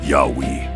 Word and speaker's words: Yahweh: The name YHWH pronounced Yahweh and Midianite origins, the divine name YHW, Yahweh.